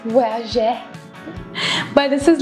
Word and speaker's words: Voyageur: I'm pronouncing it like how we used to do it in our French classes, Voyageur.